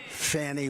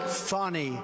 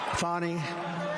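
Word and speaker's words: Fani: the horrible case of Fanny Willis it's it's actually pronounced fonny it's f a n i but you pronounce it fonny a little French accent there fonny but that's a terrible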